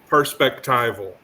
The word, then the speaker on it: perspectival: the right pronunciation actually what I'm saying is pers as in perspective perspectival perspectival yeah not if you mean